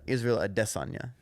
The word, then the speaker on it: Israel Adesanya: the cool last name tall uh it's actually pronounced uh Israel adesanya because he's Nigerian yeah it's it I think